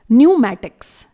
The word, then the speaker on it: pneumatics: इसी तरह से अगला वर्ड है न्यूमैटिक्स, स्पेलिंग है PNEUMATICS। इट इज न्यूमैटिक्स। यहां पर भी हम P को प्रोनाउंस नहीं करेंगे जो कि साइलेंट रहेगा।